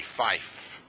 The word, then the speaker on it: fife: you say Niner and on the radio you say Fife FIF I'm not making this up